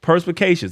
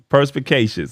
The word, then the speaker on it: perspicacious: it's a big word purse Pi K shus there it is perspicacious I was having a